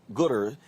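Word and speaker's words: Goodr: founder and ceo of gooder uh is it is it gooder g-o-o-d-r is that what house pronounced right okay so you decided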